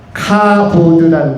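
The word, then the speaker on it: כָּבוֹד: 그리고 이것이 히브리어로는 카보드라는 것입니다. 카보드 하면은 히브리어로 영광이고요. 우리가 오르간 가운데서 키보드라는 것도 있지만은 발음이 비슷하지만 좀 다른 카보드, 이것이 히브리어로 영광, 하나님께 영광이라는 뜻이고, 그 다음에 헬라어로는 독사입니다.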